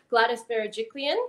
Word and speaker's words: Gladys Berejiklian: a sudden grateful about it like i saw gladys berejiklian is that um is that right premiere yeah